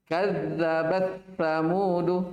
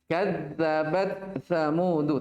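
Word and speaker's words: كذبت ثمود: Kadzabat samudu, taknya sudah hilang. Paham ini? Padahal harusnya apa? Kadzabat samudu, taknya dibaca. Bukan hilang.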